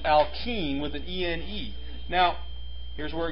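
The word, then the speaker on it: alkene: this what chemical group is present here not alkine it's pronounced alken with an now here's where it gets a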